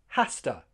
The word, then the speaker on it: has to: Has to. Has to. Rhymes with pasta.